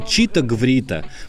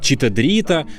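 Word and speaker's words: Chito-Gvrito: Ну конечно, читаврита. Многие произносят её как читарита, но это всё же настоящие слова, а не случайный набор букв.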